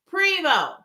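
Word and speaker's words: Prevost: Y'all, Prevo. And that's how you pronounce that.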